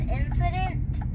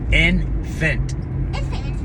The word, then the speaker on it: infant: Yeah, but like, when I was infinite, she was, Buddy, I don't mean to cut you off, but I want you to know what it's actually called so you don't say it wrong. No. Infant.